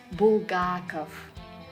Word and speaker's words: Булгаков: All the Russian male surnames that end with ov will also be pronounced with f at the end. Чехов, Булгаков, Лермонтов.